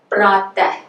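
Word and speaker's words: प्रातः: Pratah, pratah. And in this case, we pronounce the accent after it's noted in the script. It's complete opposite of the first case.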